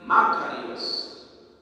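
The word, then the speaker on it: μακάριος: La palabra bienaventuranza en griego se pronuncia Macarios.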